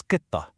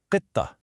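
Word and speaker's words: قطة: The Arabic word for cat is qitta. You hear it, right? That sharp qi sound at the beginning? Qi, qitta.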